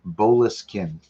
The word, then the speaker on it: Boleskine: Apparently, I'm pronouncing it wrong. What? It's Boleskine.